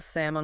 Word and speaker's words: salmon: just think about it I'd love some grilled sammon with asparagus rolls right off the tongue all